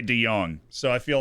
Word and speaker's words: de Jong: Der Beek and uh Frankie de Jong I do say de Young so I feel like